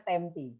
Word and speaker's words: Tempe: saya taruh dicat ya tulisannya tempe teman-teman kan tempe ya Tapi bacanya tempe jadi saya di kota